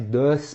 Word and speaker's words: does: Inclusive eu não falei does, termina com S, né? D-O-S, does, mas a pronúncia é com Z.